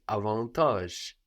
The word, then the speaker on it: avantage: g e ending Advantage this in French is avantage avantage avantage so we don't have the T that we have there in English Advantage no avantage and